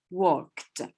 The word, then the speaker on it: walked: Yeah, it is walk, and the pronunciation is te.